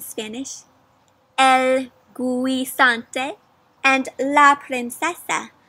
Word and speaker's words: princesa: El guisante and la princesa. Sort of sounds like the word princess, right? And it does because that's what it means. That's how you say princess in Spanish.